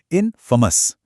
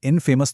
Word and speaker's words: infamous: इसकी सही प्रोनाउंसिएशन होती है इनफेमस। इसे इनफेमस तो बिल्कुल नहीं पढ़ना है।